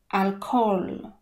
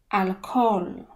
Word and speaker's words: alcohol: ma na alkohol alkohol tutaj ha jest niemy i jeszcze zanika nam o alkohol alkohol oto fragment z kim